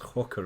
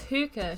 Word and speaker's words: hookah: Is it pronounced hooker or hookah? It's hookah, surely.